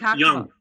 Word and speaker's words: Jung: Jung.